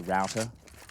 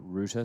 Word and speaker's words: router: well beta what's beta I say router when I'm around you guys and you guys say Rooter so there's obviously there's